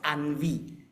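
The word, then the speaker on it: ennui: a special name isn't it h is is pronounced as Anvi the spelling is a e n n UI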